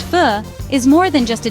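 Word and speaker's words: Phở: knew this was a food experience we would never forget. It was more than just a meal. It was a taste of Vietnamese culture and a cherished family memory. Fo, pronounced fu, is more than just a dish in Vietnam.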